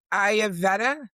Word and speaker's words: Ayurveda: It's Ayurveda.